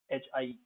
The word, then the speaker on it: height: Then there are words from German like height, Height, height, and then Einstein. So the EI, when it's pronounced like I, you can be certain that they are coming from German.